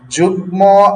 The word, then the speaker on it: যুগ্ম: গংটনমলের সাথে ম যুক্ত হলে উচ্চারণ ও এর মতো হয়। যেমন বাগ্মী, যুগ্ম আহ্বায়ক, তিনি বিএনপির যুগ্ম আহ্বায়ক, ঠিক আছে।